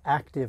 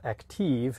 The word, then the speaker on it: Aktiv: the active 2.0 and by the way the pronunciation is active not active at least according to or one heimer there's